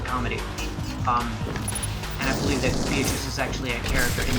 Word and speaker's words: Beatrice: It is Beatrice, right? I'm not mispronouncing that. It's not like... It's definitely not beet rice.